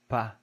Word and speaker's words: pas: We almost never pronounce the S when it's the last letter of a French word.